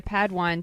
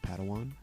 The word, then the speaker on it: Padawan: the chill family reunion Master Yoda assigned a pad wine to this bold Jedi it's pronounced Padawan Oh Padawan excuse me hey it's getting late I think